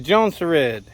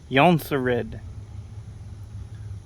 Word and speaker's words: Jonsered: beauty check it out the johnson red or preferably or the correct pronunciation is yonsarid the yonsei red 2258 what